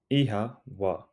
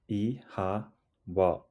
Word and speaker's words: Oíche mhaith: Ihawa, ihawa, ihawa. It sounds like ihawa. The O has a long sound and the MH is pronounced like a soft W.